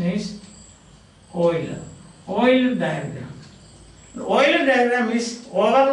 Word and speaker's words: Euler: the spelling is EU and ER at the pronunciation is Euler Euler diagram the oil rich Wakile diagrams say